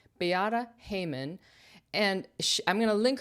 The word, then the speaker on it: Beata Heuman: Today, we're taking a closer look at a London flat designed by uh Bayata Haymon. Had to look up how to pronounce her name. Biata Haymon.